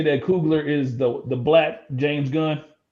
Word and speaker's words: Coogler: Is that how you say it, bro? Am I still messing his name up? It's fine. Cool. Say it for me, Norm. Coogler. Coogler. Oh, it's Coogler.